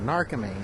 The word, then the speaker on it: Narcomi: Dave Narcomi is how you pronounce it, Narcomi.